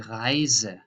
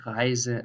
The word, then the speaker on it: Reise: So how you pronounce just one S. That is here, for example, the journey, die Reise, or lesen, or tausend. So this is a normal Z, tausend, Reise, lesen.